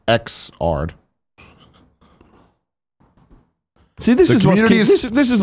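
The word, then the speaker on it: Xrd: still be there interesting he reaffirms that it's pronounced ex art see this is this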